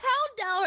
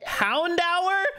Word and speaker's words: Houndour: I need to talk about the Houndour I got. Houndour?